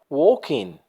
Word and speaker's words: walking: They are walking. L here is mute. L هنا لا تنطق. They are walking.